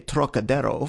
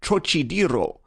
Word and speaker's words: Trocadero: That peculiar throaty aspirate the Frenchman gives to the first syllable, as though it were spelled Turok, is utterly beyond the Chinese, and beyond the American too, whose idea of the tonsillar aspirate leads him to speak of the trochidiro, naturally falling back upon